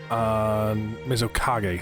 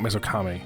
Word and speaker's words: Mizukage: Mizukage, sorry, not Mizukami. Kami is things.